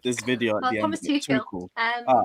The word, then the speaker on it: Tuchel: Like I explained, the way I tried to explain it to English people is how you say James. You know, James Rodriguez. That sound at the start of James. That's how you say the TH in Tuchel. Tuchel, like that.